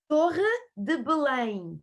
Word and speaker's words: Torre de Belém: And one of the places when we arrive in Lisbon is to visit, I'm not sure if I pronounce it right, Torre de Belém. Yes, Torre de Belém.